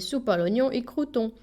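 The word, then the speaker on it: Soupalognon y Crouton: Attention à la prononciation. Il s'appelle Soupnon et Croûon.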